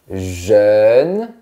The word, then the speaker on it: jeune: Ici, on a jeune, mais ton pull est jaune. Donc, on a jeune. Pour bien le prononcer, il faut dire gêne, mais de manière plus fermée et verticale.